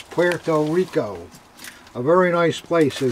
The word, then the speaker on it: Puerto Rico: jersey here in philadelphia mispronouncing the name puerto rica it's not that's what we've always heard puerto rica it's not puerto rica it's puerto rico a very nice place